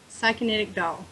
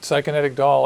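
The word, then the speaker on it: Psykinetic Doll: It is Psychonetic Doll. Psychonetic Doll. And it actually is spelled just like it looks.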